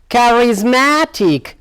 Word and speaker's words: charismatic: look now charismatic charismatic so here now the stress lies here charismatic this word is consisted of four syllable chords so the stress lies on here charismatic charismatic good well